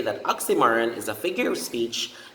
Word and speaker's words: oxymoron: and don't forget that in the word oxymoron the major stress is assigned to the third syllable which is ma oxymoron ma oxymoron okay so let's